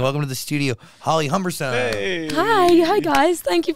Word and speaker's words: Humberstone: I guess but people people never know whether to say humberstone or humberstone and I don't really know which one it is I think I flick between the two humberstone is I say it right yeah yeah yeah you're saying it perfectly I think you can